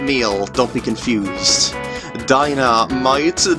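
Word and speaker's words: Dynamight: Dynamite, different spelling, but pronounced the same.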